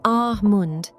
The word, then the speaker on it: almond: In Standard American English, that L is silent. It is ah-mund. For example, I love drinking almond milk.